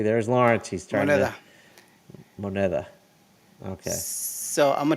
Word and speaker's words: moneda: What is it's a modida? What's it No, called? modida? Moneda? Money? Yes. How do you say Moneda.